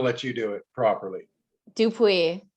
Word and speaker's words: Dupuis: do it properly dupuis dupreeh yeah i would have got it wrong and i looked at it i would have pronounced it wrong so i'm glad i let you pronounce it there's no r a lot of people